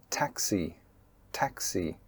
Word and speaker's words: taxi: And another common mispronunciation is the KS consonant cluster in "taxi" "taxi". Do you say Tassy Tassy?